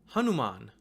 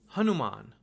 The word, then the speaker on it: Hanuman: the letter na, but because you have the VIRÄMA there, it's actually read as n. N, not na, but n. It omits the vowel sound that's there.